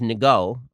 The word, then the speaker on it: Ngo: There's an article from August 2018 by Andy, I believe it's pronounced Ngo, or maybe the N is silent.